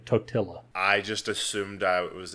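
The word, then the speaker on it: Totila: no that's exactly it it sounds like a white person saying tortilla anyways that a dumb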